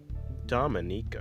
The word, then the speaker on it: Dominica: Dominica is how they say it.